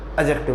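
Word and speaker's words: adjective: मैं एक बार आपको फिर से बता देता हूँ, इसका जो डी होता है वो साइलेंट होता है और इसको क्या बोलते हैं? एडजेक्टिव बोलते हैं।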